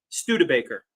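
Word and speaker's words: Studebaker: the way sorry that's all right how's it pronounced PG St Baker say it again stud Baker stud Baker I'm not gonna get it right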